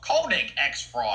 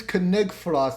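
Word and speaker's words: Konig X Frost: Koenig X Frost. Actually, it's Koenig Frost. The X is silent.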